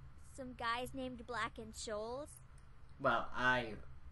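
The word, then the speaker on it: Scholes: Some guys named Black and Shoals? Well, I butchered his name so hard, I think I said skulls instead of trolls. Or shoals, whatever the fuck.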